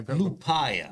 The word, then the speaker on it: Lupaia: Well, to me the the the wine was a the pronunciation I Lupaya.